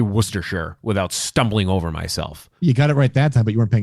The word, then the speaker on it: Worcestershire: can say woosters I can't even say it Worcester Shire sauce I have to say it very slowly Worcestershire it's Worcestershire sauce well I have a speech impediment apparently I can't say Worcestershire without stumbling over myself you got it right